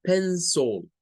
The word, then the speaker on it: pencil: Decíamos que no es pencil, sino que es pencil. Pencil. El schwa aquí llega a ponerse en donde está esa I.